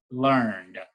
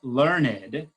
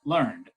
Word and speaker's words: learned: And in doing so, it's making sure that we're going to pronounce the word as one syllable, learned, rather than learned, which might be a different poetic way of pronouncing that word.